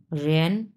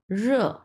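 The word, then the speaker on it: 热: আচ্ছা, এরপরে হচ্ছে 1 নাম্বার টন ছি ছি, মানে হচ্ছে খাওয়া, এবং লাস্টেরটা হচ্ছে 4 নাম্বার টন র র, মানে হচ্ছে গরম, খুব গরম লাগছে ওর।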